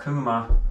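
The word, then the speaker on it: Kuuma: Now, there is a high-end stove company called Kuma, and Kuma is Finn for hot. It's spelled K-U-U-M-A.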